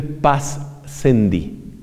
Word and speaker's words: Pascendi: Se escribe Pascendi, S-C, Pascendi.